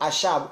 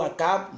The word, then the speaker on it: Achab: Alors, Achab ou Akab, bon, je vais choisir une prononciation pour pas que ça me fatigue. On va prendre Akab, ok?